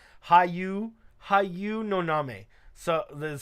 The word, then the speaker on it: Hayu Noname: That's how that's pronounced. Hayu Noname.